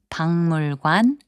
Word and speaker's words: 박물관: 박물관, which means museum, is pronounced as 박물관.